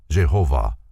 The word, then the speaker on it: Jehovah: The Tetragrammaton, or the 4-lettered name of God, written thus, is pronounced Jehovah.